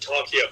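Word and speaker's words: Tarchia: So to see Tarshia, I know you pronounce it Tarkia, but I like pronouncing it Tarshia.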